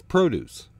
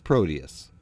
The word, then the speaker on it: Prodeus: started today is proteus which for some reason people pronounce produce which isn't very scary or promote thoughts of action-packed gameplay so no it's proteus that sounds better proteus is the first